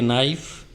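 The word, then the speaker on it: knife: He took a नाइफ, ही माने उसने, टुक माने लिया, ए नाइफ, नाइफ मीन चाकू। नाइफ में के की आवाज़ नहीं आती, देखो के साइलेंट रहता है।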